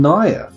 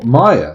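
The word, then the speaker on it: Maia: He was a fallen Naya. Oh, Maya, sorry. Wrong pronunciation there.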